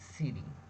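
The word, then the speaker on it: ceiling: शायरिंग जो कि गलत है हम लोग पढ़ेंगे सीलिंग सीलिंग इसको साइडिंग ये सीलिंग सी इ आई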